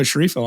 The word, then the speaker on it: Sceriffo: gettens and we've got the ever amazing sharifo on today how are you doing sir CH jacobo it was very very good pronunciation by the way congratulations I I I